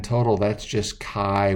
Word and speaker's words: Chi: the Greek letter Chi in English that spelled CH I and it is pronounced Chi Chi for any gas we're using component 1